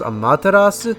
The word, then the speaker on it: Amaterasu: um amaterasu was it technically her name is pronounced amaterasu but i just say amaterasu because it's easier on the tongue well she's